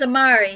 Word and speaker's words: Amari: "My name's Amari," he rapped, "rhymes with Atari.